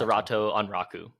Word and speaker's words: Sorato Anraku: Sorato Anraku.